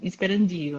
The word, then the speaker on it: Sperandio: pessoa não sabe ler porque na verdade não tem acento circunflexo no A então não é esperandio é esperandio é lindo seu